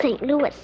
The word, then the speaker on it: St. Louis: me Mr Castello but it's pronounced St Louis that's funny now take